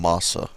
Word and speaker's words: Massa: And I think we've been pronouncing his last name wrong. I apologize for that, but I heard somebody is calling him Massa.